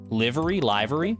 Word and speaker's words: livery: Is it liver like the organ, or livery? Or livery? Livery? I do want to say livery, yeah. Sivka, welcome to the stable. There you go. Say it like liver.